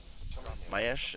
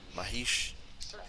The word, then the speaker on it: Mahesh: Mayesh, is that how you say it? Mahesh. How do you pronounce that? Mahish. Mahesh. Hey Mahesh.